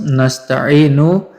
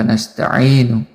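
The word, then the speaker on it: نَسْتَعِينُ: Lafaz nasta'inu dibaca fathah huruf nun yang ada pada permulaannya menurut qiraah semua ulama, kecuali Yahya ibnu Sabit dan Al-A'mash, karena keduanya membacanya kasroh seperti yang dilakukan oleh Bani Asad, Bani Rabi'ah, dan Bani Tamim.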